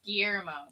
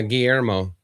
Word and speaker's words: Guillermo: Yeah, it's Guillermo. Yeah, Guillermo.